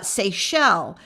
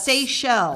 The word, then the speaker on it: Seychelles: zealand dominican republic france united arab countries uh seychelles tim had to tell me how to pronounce that seychelles it's a thousand miles off the west coast